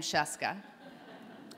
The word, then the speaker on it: Scieszka: the country now knows how to pronounce the name sheska they don't necessarily know